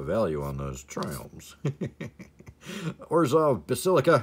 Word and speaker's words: Basilica: Orzhov Basilica. Hey, I said it right that time. First time ever. I always call it the Ballistica.